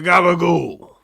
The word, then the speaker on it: gabagool: I can't even pronounce it properly. The gabagool.